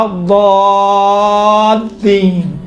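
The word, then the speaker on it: الضالين: ہے، کاملاً باریک ہے، لیکن یہاں پر لام چونکہ لام کے اوپر تشدید ہے، تشدید کی وجہ سے لام کا تلفظ تھوڑا سا موٹا اور ضخیم اور غلیظ طریقے سے کیا گیا ہے.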